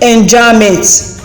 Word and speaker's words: enjambment: Run-on line is also called enjambment. Take note of the pronunciation. The B is silent.